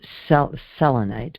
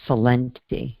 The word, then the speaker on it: selenite: And selenite or selenite. It's pronounced different ways.